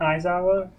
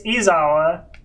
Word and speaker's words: Izawa: Have I been saying Aizawa? You have. Well, I literally, it's Izawa. Okay. It's Izawa. I wasn't sure.